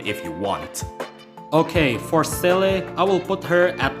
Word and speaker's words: Seele: If you play on English, the pronunciation will be Zila or Zela, or whatever you want to call her. But for me personally, in Japanese, I rather call her Seele because I play Honkai in back third.